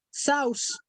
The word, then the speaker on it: Saussure: Saussure.